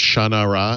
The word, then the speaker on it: Shannara: book and he told me that it was pronounced shannara and i said no it's not and i'm